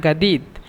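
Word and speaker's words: جديد: আসান আনা গাদিদ, আনা জাদিদ মূলত, কিন্তু এখানে মিশরেরা জিমকে গয়ন বলে, এই জন্য আনা গাদিদ।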